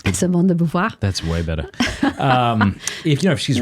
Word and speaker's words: Simone de Beauvoir: Simone de Beauvoir.